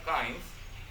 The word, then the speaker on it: kinds: Kinds-nya ragam, bukan kings ya, tapi bacanya kinds.